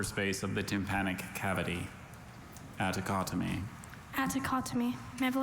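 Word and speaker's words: atticotomy: Attocotomy. Attocotomy. May I have the definition, please? Attocotomy is a surgical incision of the small upper space of the tympanic cavity. Attocotomy.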